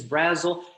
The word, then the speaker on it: Brazel: uh pastor bill brazel uh the pronunciation is brazil and this is his invitation